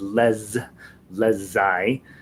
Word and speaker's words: les ailes: And when you have les, you pronounce it as les ailes.